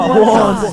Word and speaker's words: Juwan: That's just how it's pronounced. Juwan? Is there Juwan in the room? It's Juan. No, Juwan.